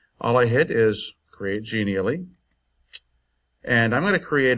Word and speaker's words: Genially: So I'm using Genially, which is spelled like that, but the website is genial and then .ly.